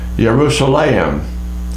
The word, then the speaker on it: Yerushalayim: the son of alphaeus there's an unusual pronunciation also in hebrew which they say yerushalayim for jerusalem yeshua for jesus judah for judah and judah ben jayakov judas